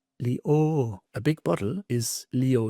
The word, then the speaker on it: Leo: ch, but sh and not le, but leo.